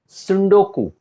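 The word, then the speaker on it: tsundoku: सुंडोकू, टी इसमें silent है।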